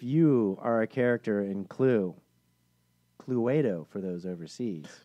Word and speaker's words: Cluedo: He said, if you are a character in Cluedo for those overseas. Cluedo. Cluedo. You don't pronounce the E. It's a silent E.